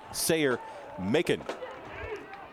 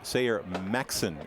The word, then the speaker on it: Sayer Maxson: number 88 is hunter sayer macon i should say sayer maxson is how he pronounces it so it'll be